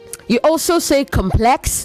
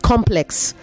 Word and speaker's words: complex: It's one word, but it is pronounced differently depending on the context.